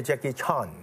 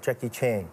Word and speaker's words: Jackie Chan: many jackie in china they call me jackie chan and some people call me jackie chan right like jackie chang whatever yeah as long as